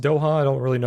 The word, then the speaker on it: Doha: Air defense activity reported over, I think it's pronounced Doha. I don't really know how to pronounce that. Doha? Doha? No idea. I'm probably butchering that. Where is Doha? Doha, Qatar. It is Doha?